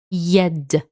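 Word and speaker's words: يد: This word here we pronounce it yed.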